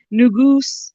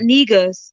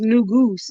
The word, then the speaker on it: Negus: saying oh it means new Goose it's not negus it's new goose n-e-g-u-s is pronounced new goose and um that was